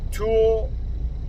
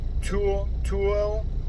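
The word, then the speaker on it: Tooele: I'm currently headed to Toole, Utah. I believe that's how you pronounce it. T-O-O-E-L-E, Toole, Utah.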